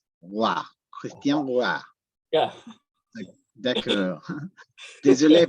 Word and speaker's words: Roy: And my name, by the way, is French, so it's Roy. Roy.